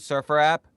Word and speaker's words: SurfrApp: you're Surfer app is that how you pronounce it Surfer app that is you got it so so did